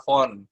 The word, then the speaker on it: Fond: Kalau dibacanya adalah font, ya kan?